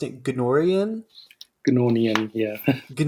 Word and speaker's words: Gnornian: of like to dive into i believe you pronounced it gnorian yeah good nornian excuse me yeah uh so with that i